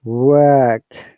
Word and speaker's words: work: And because it is a non-rhotic sound, R should be silent, guys, okay? So it is work.